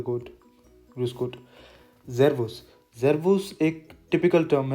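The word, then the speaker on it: Servus: अच्छा यहाँ पे जो एस है वो जेड प्रोनाउंस होगा, जेरवस, जैसे कि हमने अल्फ़ाबेट वाली वीडियो में देखा भी था।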